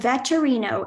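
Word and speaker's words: vetturino: Your word is veterino. Can you repeat the word? Veterino. Veterino. Can I have the definition? A person who drives an Italian four-wheel carriage. Can you use it in a sentence? The veterino ensured that the tourists and their luggage made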